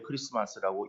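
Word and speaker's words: Xmas: 그런데 그것을 우리 성도님들 가운데서도 엑스마스 쓰고 왜 크리스마스라고 읽는가라고 하는 데 대해서 잘 모르시는 분들도 있을 수 있습니다. 그 X는 알파벳의 X가 아니고 헬라어의 키라고 하는 그러한 알파벳이에요. 그 알파벳의 그러니까 헬라어 알파벳의 그 키라고 하는 것이 키가 그 이제 X로 쓰는 거예요.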